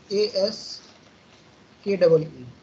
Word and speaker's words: ASCII: बोलते हैं हम एस्की, कई लोग इसको एस्काई भी पढ़ते हैं या एस्की भी बोल सकते हैं इसको, ASCII, इसको क्या पढ़ोगे, एस्की कोड या एस्काई कोड भी बोलते हैं कई लोग, this is pronounced as एस्की code, ASKEE, एस्की। ठीक है, this code is called एस्की code.